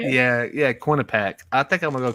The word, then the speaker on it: Quinnipiac: Yeah, Quinnipiac.